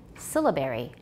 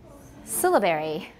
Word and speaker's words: syllabary: syllables rather than segments stress is on the first syllable syllabary syllabary it's called a syllabary